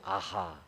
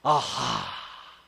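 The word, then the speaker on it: אהה: 히브리어 발음이 아하예요. 이분이 발음이 아하. 근데 아는 단모음이고 하는 장모음이에요. 그래서 아하 이런 거예요.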